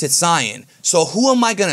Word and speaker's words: Saiyan: my channel is that I was pronouncing the word Saiyan as Cyan, okay? Now, I did a whole video about it, and ever since then, I got attacked ruthlessly in the comment section because I say Cyan, but the dub says Saiyan.